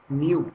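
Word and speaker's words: μ: एन की जैसे लिखते हैं, इसको उच्चारण में हम बोलते हैं म्यू।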